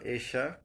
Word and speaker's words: এইশা: এইশা আরসি লিখেছেন, স্যার আমার নাম এইশা, এশা নয়। সরি, আমি খুবই দুঃখিত। এইশা, এবার কি উচ্চারণটা ঠিক হয়েছে?